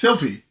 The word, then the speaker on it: Sylphie: What L do you think you're pronouncing? You're saying it. It's Sylphie. Fee.